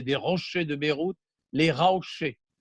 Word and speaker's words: Raouché: rochers de Beyrouth, les Raouchés. C'est une déformation de prononciation un peu à la provençale, comme si un Marseillais parlait de Raouché, Rocher, et c'est devenu le lieu de Raouché qui date de la côte phénicienne.